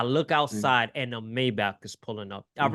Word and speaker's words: Maybach: I start running up the block to where the Maybach is, Was Papa? opens the I love door. how you're pronouncing it the right way too.